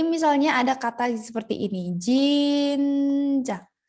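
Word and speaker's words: 진짜: Jadi misalnya ada kata seperti ini, jinja. Dibacanya itu kayak jinca, jinca, jinca. Ca-nya itu agak ditekan ya.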